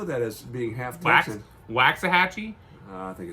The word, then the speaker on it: Waxahachie: Waxahachie? I think it's Waxahachie. I nailed it the first time. My mom would know how to pronounce that.